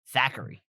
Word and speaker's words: Thackeray: Thackeray.